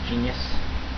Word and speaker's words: Jeanius: His name is Genius. That's spelled Jeanius X, with an X at the end.